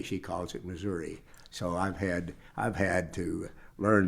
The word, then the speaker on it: Missouri: So far be it from me to belittle the emphasis on or the discussion about Missouri versus Missouri.